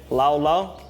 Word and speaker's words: laulau: know how to say it can everyone say laula perfect i'll turn the time over to my